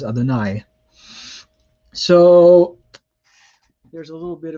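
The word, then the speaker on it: יהוה: could say Shema Yisrael, Yahweh Eloheinu, Yahweh Echad. However, virtually every Hebrew class will teach you to pronounce the divine name as Adonai.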